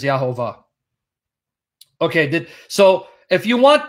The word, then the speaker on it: Jehovah: I'm going to either block Marshall or bounce Marshall, which is the same thing, because I just explained that the pronunciation is Yahovah.